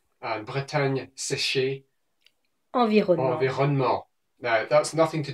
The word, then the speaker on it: Environnement: And Bretagne séchée, Environnement.